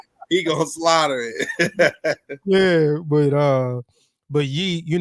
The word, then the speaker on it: Ye: brother for changing his name and you know pronounce his name right so ye um so it's not going to be particularly